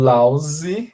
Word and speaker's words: lousy: And then lousy, esse também tem som de Z, ó. Lousy, okay?